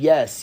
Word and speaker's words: Yess: I know Moishe Yess used to say, "My name is Moishe Yess. That's Y E S S. The last S is silent."